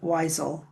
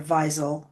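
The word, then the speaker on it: Wiesel: And that's Eli Wisel or Visel probably is how it's pronounced.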